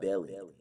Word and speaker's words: Bellion: Um, and you introduced me to John Bellion.